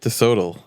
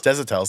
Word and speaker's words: Desitels: DeSoto. Wait, now you made me say it wrong. Desitels, there we go.